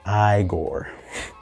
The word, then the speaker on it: Igor: Young Frankenstein Igor. Or it's pronounced Igor.